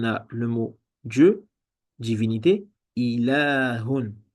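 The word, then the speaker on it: إله: Ensuite, on a le mot Dieu, divinité, ilahun. Donc ici, il y a une prolongation. Donc il y a une prolongation qu'on n'écrit pas, mais qu'on doit prononcer.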